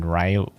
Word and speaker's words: Riolu: I said Rolo, but I mean Riolu. That's probably how you say it.